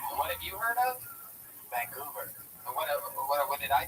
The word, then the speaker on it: Vancouver: I've heard of Vancouver, but never Vancouver. What have you heard of? Vancouver. What did I say? Vancouver. You put the wrong emphasis on the wrong syllable.